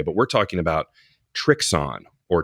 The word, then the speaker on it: Trixon: is an interesting one I believe I have been I don't want to say pronouncing it wrong but I've been pronouncing it the very American way but we're talking about trixon or trixon so German brand I